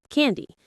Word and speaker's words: candy: The stress is on the first syllable. Ken. Say it with me. Can D. It's like can as in can do it followed by D.